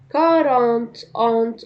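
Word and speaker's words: quarante: كارانت انت.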